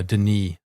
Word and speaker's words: Denis: I mean I I was pretty much redpulled uh after after chatting to uh Denise. Uh, by the way, it's Deni with a silent s because he's Canadian French.